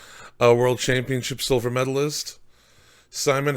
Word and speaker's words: Simon: Uh, in Austria you say Simon, but Simon, okay. it it's totally fine when you say Simon.